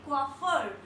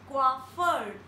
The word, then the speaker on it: coiffeur: Next word is coiffeur and we pronounce it like coiffeur. I repeat it once again, coiffeur, coiffeur.